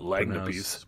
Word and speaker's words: lagniappe: Why don't we just call them that, not Lagniappes? Pronounced Lagniappe.